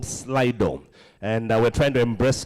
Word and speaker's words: Slido: Slido is spelled S-L-I-D-O.